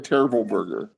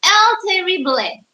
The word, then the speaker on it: El Terrible: I think that's not how you pronounce it. It's El Terrible. Oh, is it like Spanish or something?